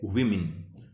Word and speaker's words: woman: और bagger वुमन bagger विमेन। जब singular form में हम प्रोनाउंस करते हैं WOMAN, ये होता है वुमन, और प्लूरल बनाते ये बन जाता है विमेन।